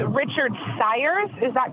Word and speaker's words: Sires: And it's Richard Sires, is that correct? Yeah, that's correct. Rhymes with pliers, and I'm here.